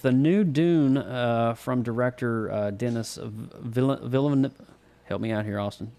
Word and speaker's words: Denis Villeneuve: new Dune from director Denis Villeneuve, help me out here, Austin. Dude, listen to this. It's Denis Villeneuve, and it took me 2 years to figure that out.